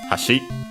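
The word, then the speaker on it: 橋: seen before uh is the one accent on the last syllable hashi. And so in this case we can actually hear it hash or low high low.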